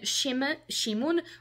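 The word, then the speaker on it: Šimon: would maybe pronounce Sanja and then Shimon written with SH uh kind of to although it's written like with an S and like a V above it like with a diacritic I don't know it's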